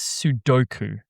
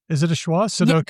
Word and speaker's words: sudoku: Sudoku? Yeah, it's more like a schwa. Yeah, exactly. It's like whatever. Look, that's very English. We often schwa the unstressed syllables. Instead of saying Sudoku, we say Sudoku.